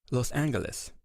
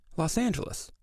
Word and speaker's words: Los Angeles: toy at Alba koi so how did we get to the pronunciation that we use today Los Angeles well let's go back to the beginning in 1781 the original 44 public daughters who settled here spoke Spanish so they pronounced the name Los Angeles well the original name